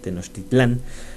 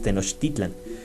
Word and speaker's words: Tenochtitlan: Recuerden que por fonética todas las palabras del náhuatl se tienen que acentuar en la sílaba grave, no se van hasta el final como nos los han enseñado para la lengua española. Entonces todas estas que dicen Teotihuacán, Atizapán, Tenochtitlán, realmente se van el acento una sílaba atrás.